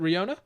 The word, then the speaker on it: Ryona: Is that how you pronounce it? Ryona? Ryona, yeah. That's how I've been saying it.